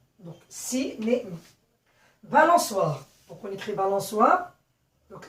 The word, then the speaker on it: balançoire: Quand il doit se prononcer ce, on rajoute la cédille pour prononcer balançoire.